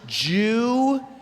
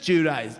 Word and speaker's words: Giudice: Just tell me the pronouncer. I'm like, it's Giudice. You know, Billy Bush email. They're like, how do I say? And then I'm like, it's just Giudice. You know, I don't know. It's Giudice.